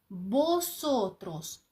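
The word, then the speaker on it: vosotros: носотрас перекладаємо як ми босотрос буква В на початку слів читається як б але коли ми говоримо На початку слів мається на увазі що там паузи до цього є босотрос - це ви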